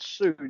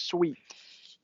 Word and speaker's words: suite: these lyrics were there it's not suited it's sweet sweet not suit sweet i mean how